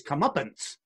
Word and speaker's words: comeuppance: up and the the the correct way to say it is comeuppance PA NCE they're gonna get their comeuppance but I've never used